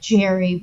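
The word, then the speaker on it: Gerry: it Gary or Jerry it's Gary spelled like Jerry with a G that is odd confusing confusing as hell um he's 63 you said he's like 72.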